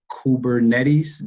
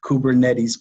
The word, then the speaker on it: Kubernetes: strategy for the enterprise sales platform wkp weaves kubernetes the money did i pronounce that right you did you did you sounded like an expert there kubernetes platform the reality of working at startup is